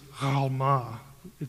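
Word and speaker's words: almah: is ugaritic for Alma now in Hebrew it's Alma the letter is pronounced in the back of the throat and it's that's why it gets transliterated sometimes with a g in certain books like Gamora Gamora it actually begins with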